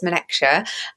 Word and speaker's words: Menekse: So my name is Menekse, and I'm saying that because just from a pronunciation point of view, I always make sure that I give people the opportunity to hear it.